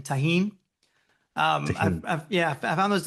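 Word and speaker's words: Tajín: T A J I N Taheen.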